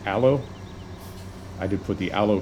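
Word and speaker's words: Ålö: I did put the I believe it's pronounced allo I did put the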